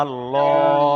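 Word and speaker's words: الله: হ্যাঁ, পুরের আওয়াজ হলো আল্লাহ শব্দের পূর্বে যদি জাবার অথবা পেশ থাকে তাহলে আল্লাহ শব্দটাকে পুর করে পড়তে হয়, অর্থাৎ ল। আল্লাহ, এখানে তাহলে নুনের উপরে জাবার এসছে, তাহলে আল্লাহ শব্দটাকে পুর করে পড়তে হবে, অর্থাৎ ল উচ্চারণ হবে।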